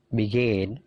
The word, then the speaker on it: begin: Begin. Jadi perhatikan stressingnya. Stressingnya punyanya come, punyanya gain, punyanya leave.